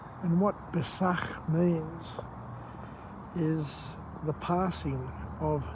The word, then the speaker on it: Pesach: He talks about the whole event of Pascha, and he says that the word Pascha is in Hebrew pronounced as Pesach. Pesach. And what Pesach means is the passing of darkness to light.